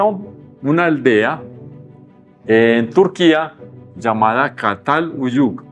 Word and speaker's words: Çatalhöyük: Entonces, allá lo diría Çatalhöyük, ¿cierto? No soy capaz de pronunciarlo. Pero este es muy suave, parecido a la S, casi como la S, Çatalhöyük.